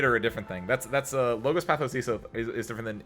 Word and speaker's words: logos: It's Greek, so you pronounce it logos.